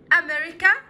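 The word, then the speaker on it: America: فرنسا، فرنش فرنش فرنسي، امريكا امريكا امريكا امريكا، السي بنطقها كانها صوت حرف الكي، امريكان امريكان امريكي.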